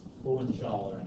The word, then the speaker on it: Hohenzollern: And Otto von Bismarck was 100% loyal to the Hohenzollern, I think is actually how you're supposed to pronounce it.